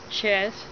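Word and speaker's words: ח: Chess. C-H-E-T-H. C-H and H as in help. Value number 8. Is pronounced K-H-A-Y-T-H.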